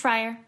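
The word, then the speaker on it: Frier: Sarah, is your last name pronounced Fryer?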